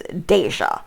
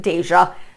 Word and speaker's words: Deja: I call this person's names Deja, which is D-E-J-A.